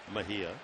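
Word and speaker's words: Mejía: spells his name j n r r y pronounce n Mahia you look at him you see he looks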